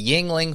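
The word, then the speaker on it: Yuengling: now buddy yeah now but I'm drinking a Yingling flatte it's a Yingling flight it's pretty good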